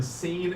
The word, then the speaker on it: scene: pitting look at that which letter in scene is silent the s or the C tough question technically the e at the end is silent too I guess all right another pit